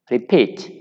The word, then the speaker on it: repeat: Prefer, repeat. So for these cases, C and D, the stress is on the last syllable.